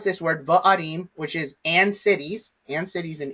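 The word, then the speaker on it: וְעָרִים: So the conjunction here is the vav with the vocal schwa underneath it. And so the way that we pronounce this word is va'arim, va'arim, okay?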